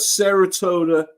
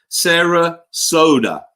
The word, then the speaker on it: Sarasota: I do have a footage coming out of Saratoga. Oh God, I can't pronounce it. Sarasota.